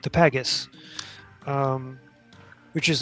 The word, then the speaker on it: pagus: I may have the pronunciation of that wrong. p a g u s Yes. Yeah. Maybe like pages or something. No, it would be pagus.